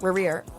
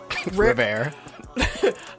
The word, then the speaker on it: Rivera: Oh, my fault. Riviera. Rivera. I want to add the extra syllable in there so bad.